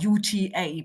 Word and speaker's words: Uta: My family name is UT uta, but I'm not too fussy about that.